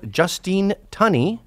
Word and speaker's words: Justine Tunney: I would like to introduce my guest here, Justine Tunney, right? Yes, that's Pronounced correct. correctly.